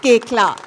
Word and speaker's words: Koechlin: Kalki Koechlin. It's pronounced Koechlin.